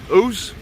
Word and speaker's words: Ouse: the river here is called the river house ooze I'll spell it for you River o u s e